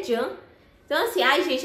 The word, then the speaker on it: Can: que era S E eu achava que era assim tipo assim essa pronúncia né mas é Jan então assim ai gente